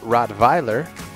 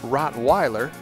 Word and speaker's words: Rottweiler: to pronounce its name if you want to pronounce it the german way it's rottweiler of course if you're in the united states rottweiler is also accepted but